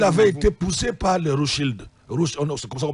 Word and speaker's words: Rothschild: Et il avait été poussé par les Rothschild. C'est comme ça qu'on prononce ça.